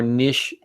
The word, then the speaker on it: niche: There are more niche. How do you pronounce that word? N-I-C-H-E, niche? Niche. Yeah. Niche. Nikki? Like crochet.